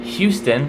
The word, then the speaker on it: Houston: In the name Houston, like the city in my home state, it's not silent.